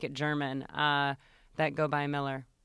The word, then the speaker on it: Mueller: So it is officially Miller. Okay. It is Miller. But if you ever ask me to spell it and or I have to go somewhere where I have to spell it, I will say Mueller.